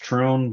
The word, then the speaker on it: Thrun: It's actually pronounced Troon, but it looks like Thrun, so I just say Thrun because it's easier for most people.